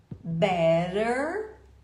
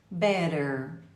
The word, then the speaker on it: better: continua sendo t ou você pode falar better que o americano faz o ter virar r e o r final é bem pronunciado então Ouça a diferença de pronúncia better dos Estados Unidos better da Inglaterra do Reino